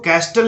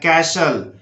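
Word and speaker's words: castle: जैसे इसको कैस्टल नहीं बोलना है, कैशल, कैशल बोलना है, कैशल।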